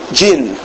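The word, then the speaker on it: Djin: How do you say that? D-J-N? Jin. Jin. Ooh, that sounds really spiritual.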